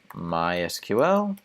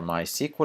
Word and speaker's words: MySQL: JavaScript option PHP option MySQL or my sequel depending on how you pronounce it option PostgreSQL or Postgres